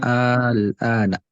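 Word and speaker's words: آلْآنَ: jadinya A-nya dipanjangin, terus diisi sukun, baru-baru A.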